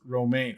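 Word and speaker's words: Romijn: granddaughter cousin whatever and rebecca's last name is pronounced romaine oh yeah no i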